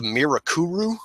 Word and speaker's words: Mirakuru: this thing called the Mirakuru. I shit you not, I am not mispronouncing it. I listened to people say Mirakuru like for 18 episodes in that damn show.